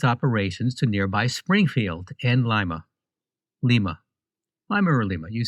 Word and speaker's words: Lima: So it's Lima, Ohio, but lima beans. Yes. All spelled the same way.